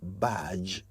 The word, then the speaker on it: badge: Two days ago, I heard someone say that he belonged to the last badge of Ole students.